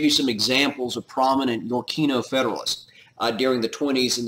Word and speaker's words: Yorkino: One faction, you can put in your notes, is going to be called the Yorkino. Yorkino, like York Right, Y-O-R-K-I-N-O, the Yorkino Federalists.